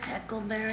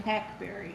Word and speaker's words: hackberry: How do you say that word, heckleberry? Huckleberry. Hackberry, Yeah. H-A-C-K, and then berry, all one word.